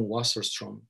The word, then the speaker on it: Wasserstrom: então, o autor eu estou pronunciando como os americanos, como os alemães pronunciariam, mas os americanos pronunciam Wasserstrom.